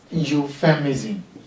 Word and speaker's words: euphemism: considering is euphemism euphemism it doesn't sound like it is spelled why it is pronounced as euphemism what is your feminism